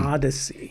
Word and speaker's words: theodicy: so say it one more time the odsy The Odyssey spell that for us it is t h EO